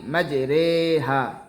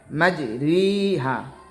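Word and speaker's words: مجريها: আর শুধুমাত্র পবিত্র কোরআন মাজিদে এক জায়গায় ইয়ায়ে মাজহুল উচ্চারণ হয়। যেমন পবিত্র কোরআনে আমরা জেনেছি বা আমরা শুনেছি পবিত্র কোরআনে আছে বিসমিল্লাহি মাজরেহা এখানে মূলত উচ্চারণ হবে মাজরিহা তবে এখানে এই ইয়ে মাজহুল উচ্চারণ হবে বিসমিল্লাহি মাজরেহা সম্মানিত দর্শক এত সময়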